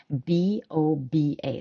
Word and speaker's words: boba: And in the Western world, we generally spell it B-O-B-A. So B as in baby, B-O-B-A. So you would say boba.